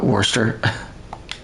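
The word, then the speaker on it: Worcester: oh yeah that's right they pronounce it uh Worster yeah I think in England there's like a whole bunch of places that um all are spelled similar but sign different Worster sounds like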